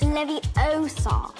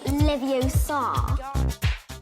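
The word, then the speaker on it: Leviosa: Besides, you're saying it wrong. It's Levi-O-Sa, not Levi-O-Sa.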